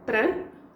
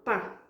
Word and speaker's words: para: Because we have para amanhã, para is a word we often say para or pá. So, eles dão chuva para amanhã. I said para amanhã because it ends with an A and then amanhã starts with an A. Two vowels, they sort of like clash. It's just easier to speak that way.